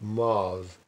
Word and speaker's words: mes: Mes pronounced Maz.